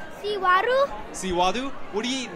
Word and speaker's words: Xihuaru: Xihuaru.